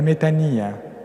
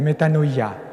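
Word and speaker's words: μετάνοια: Pères de l'Église grecque appelaient la méthania la méthanoia comme vous le dites avec la prononciation erasmienne la méthanoa la conversion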